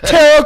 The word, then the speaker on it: tarot: Yeah, tarot cards, schmarrow cards, whatever. Tarot rhymes with schmarrow.